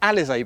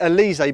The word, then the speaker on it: Alizé: Well, actually Windy would have us believe that you pronounce that Alize, but I'm going to call it the Alize because it sounds cooler, and actually it deserves